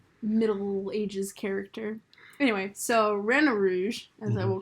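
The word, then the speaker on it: Rena Rouge: we get rina rouge although i don't like that pronunciation i feel like you should be drawn to reno rouge because reyna comes from renard who is a i think which is the french way to say fox i think fox in french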